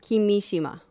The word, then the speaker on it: Kimishima: No, I'm just getting corrected on pronunciation. Tatsumi Tatsumi. Kimishima.